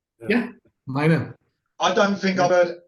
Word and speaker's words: Meine: 2 syllables. Meine. Like a Meine bird. Yeah, Meine.